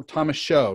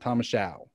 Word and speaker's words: Thomashow: So Thomashow, not Thomashow. That's right. Yeah. Like a show. Mm-hmm. Okay. So that's the first sentence. Hopefully I'll pronounce everything else. All right. So Rabbi Thomashow attending college at Brandeis University.